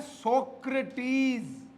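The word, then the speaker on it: Socrates: का जो नाम है सुकरात का नाम है सक्रेटीज क्या नाम है सक्रेटीज ये ई को थोड़ा सा क्या बोलते हैं लंबा बोलते हैं ठीक है उनका स्टाइल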